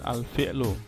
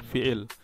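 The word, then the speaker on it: الفعل: Kemudian kata kerja yaitu disebut dengan al-fi'lu, kalau di dalam bahasa Arab disebut dengan al-fi'lu, kalau disukun bacanya menjadi al-fi'l. Orang Indonesia biasa sebutnya dengan fi'il.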